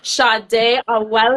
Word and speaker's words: Sadé Awele: For those that are just tuning in, I am with the one and only Sadé Awele. Hey. Did I pronounce that right, girl?